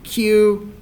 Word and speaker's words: queue: this word is to say the first letter and then not say any of the others um because English is